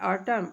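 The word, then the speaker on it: autumn: Column, column means स्तंभ होता है, इसके बाद इसमें भी एन साइलेंट है। ऑटम, ऑटम मीन्स शरद ऋतु या पतझड़।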